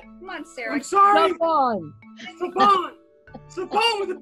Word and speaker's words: Siobhan: Think of shove and on. Siobhan!